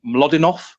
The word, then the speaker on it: Mlodinow: is, I think, I'm not sure how you pronounce it, Mlodinov or something. Bless you. And it's called, yeah, thank you. Mlodinov, say it again. Bless you. Someone will tell me I'm pronouncing that completely wrong. Mlodinow.